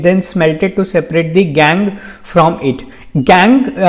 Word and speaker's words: gangue: smelted to separate the gangue from it. Gang इसकी जो pronunciation होती है वो गैंगवे नहीं है, इसकी प्रोनाउंसिएशन गैंग ही है।